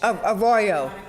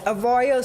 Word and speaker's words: Arroyo: oh oh the T you want me to pronounce it so that is a dry like a g a royal yes a royal Circle I didn't know yes I didn't know